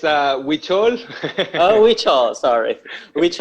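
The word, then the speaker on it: Huichol: silau falades uh an american mexican artist promoting hoocho art i hope i don't make a mistake in pronouncing that yeah ucho is it correct silo it's a witchol oh witcho sorry witch it's okay it's okay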